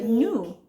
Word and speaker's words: gnu: means wild cattle they're also known as the nu you remember that word with the silent g in front of it and so nu is